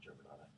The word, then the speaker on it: Germanotta: It's pronounced Germanotta.